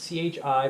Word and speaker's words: chi: if they you throw in English letters it's c-h-i but it's pronounced Chi the sin it's a Greek symbol